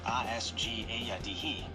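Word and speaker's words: Asgaya-dihi: The Cherokee word agaya dehi pronounced roughly a sg a yadhi literally translates to man killer.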